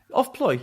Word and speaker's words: Offploy: I hesitate because I'm not quite sure I'm pronouncing it correctly. Offploy gets started. Is that right? Offploy, yeah.